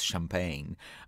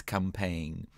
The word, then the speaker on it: campagne: started pronouncing it as champagne but this is not champagne it's not a champagne bun it's it's campaign um so a little